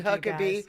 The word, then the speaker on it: Huckeba: Thank you, Stacy Huckabe. We might even talk about why your name is spelled Huckaba and it's pronounced Huckabe.